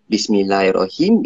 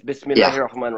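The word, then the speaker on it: بسم الله الرحمن الرحيم: I was going back, I may have said Bismillahirrahim, is because when I saw Bismillahirrahmanirrahim. Yeah, it's Bismillahirrahmanirrahim. Yeah, sorry. Yeah. Sorry for my mispronunciation.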